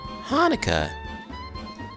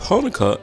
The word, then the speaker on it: Hanukkah: i said lucy's confused hanukkah grandpa grumbles say it with me actually both hanukkah and hanukkah are right the holiday's name is hebrew so there are different ways to spell it and say it hanukkah hanukkah thanks applesauce